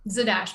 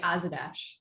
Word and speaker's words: Zadash: it's a dash i don't know how to pronounce it zadash but i was calling it azadash what is this paddy wack a paddy wack